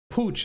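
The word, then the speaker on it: Puig: the euros recently monica pooch pooch that's the pronunciation became the first puerto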